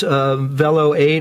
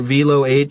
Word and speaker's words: Velo 8: The microphone is a Groove Tubes Velo 8 or Velo 8, depending on how you want to pronounce it.